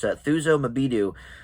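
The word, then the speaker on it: Thuso Mbedu: But also, I think this supporting actress, Thuso Mabidu, I believe is how you would pronounce it, could get a supporting actress nomination.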